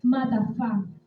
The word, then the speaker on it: matafá: El velo proviene de la palabra hebrea matafá. Se escribe M-A-T-A-F-A. Lleva acento la última A, que significa manto.